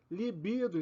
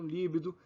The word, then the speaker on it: libido: Condor e não cdor libido e não líbido Nobel e não nóbel